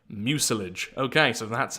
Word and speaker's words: mucilage: Mucilage. Mucilage. Okay, so that's how that's pronounced.